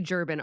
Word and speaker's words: Djerba: When you think about Tatooine, it's actually Jerban architecture, and Jerba is spelled Djerba, Okay.